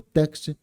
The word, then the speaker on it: text: teste né na verdade eu pronuncia o teste mas tá errado é o text é Center tags start